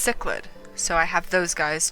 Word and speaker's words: cichlid: octopus paddlefish clownfish and chicklets chick hold up give me a second okay apparently it's pronounced cichlid so i have those